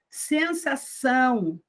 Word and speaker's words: sensação: Sensação, sensação, não é sensação, é sensação, o nasal.